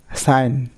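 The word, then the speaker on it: sign: সাইন, নো, GNAW, এখানে জি উচ্চারণ হচ্ছে না।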